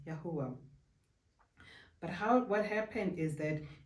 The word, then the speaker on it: YaHUaH: So it's YaHuH, pronounced as YaHUaH.